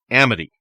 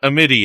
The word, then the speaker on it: Amity: You've been saying it wrong for a podcast and a half. It's Amity. It's not Amity, it's Amity. Amity, all right, Amity Island.